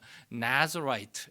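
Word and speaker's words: Nazirite: 우리 영어에는 좀 비슷하게 말하는 나즈라이트 이렇게 발음을 합니다.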